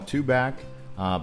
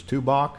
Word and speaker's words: Tubac: Some would call it Tubac, but from what I understand and what I call it is Tubac, just in case you were wondering.